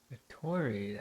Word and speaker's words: Dottore: Dottore, that's how you pronounce his name.